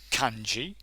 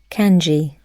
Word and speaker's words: kanji: I typed in kanji, and hopefully you can hear this. Let me just press it anyway. Kanji.